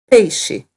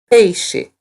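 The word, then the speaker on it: peixe: she is the word we use for fish hey she hey she notice that the X sounds like hey she awesome so now you know three foods bulimia hey she and do you remember how to say steak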